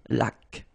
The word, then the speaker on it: laque: Remember the rule when you get this QU, well, U is not pronounced, so you get k like that. Une laque.